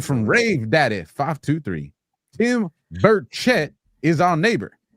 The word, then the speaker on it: Burchett: Tim Burchett is our neighbor. His name is pronounced Burchett.